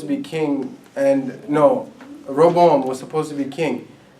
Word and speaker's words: Rehoboam: They've been sinning, and this is where the story of Jeroboam and Roboam. How do you say their name? Rehoboam and Jeroboam.